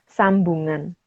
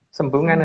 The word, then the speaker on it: Sembungan: ditandai dengan penamaan daerah Sambungan. Bukan Sembungan ya, Mas? Sembungan harusnya.